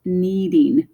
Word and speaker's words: knead: And knocking is usually done on a front door with your knuckles, another word that has a silent K in it. And it also is related to if you were making bread and you had to push the dough over and in the process called kneading dough.